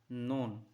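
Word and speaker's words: know: नॉन, के एन ओ डब्ल्यू, नो, नो means क्या होता है जानना, यहाँ पे हो जाता है क्या साइलेंट।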